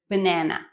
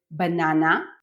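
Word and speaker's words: בננה: It is banana, although formally it should be banana, stressing the last syllable, but no one does it. Everyone says banana, and you should too.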